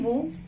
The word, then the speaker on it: vous: In vous, we haven't pronounced S.